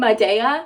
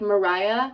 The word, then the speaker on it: Maria: I pronounce her name Madea, but it's actually like Mariah, but Spanish.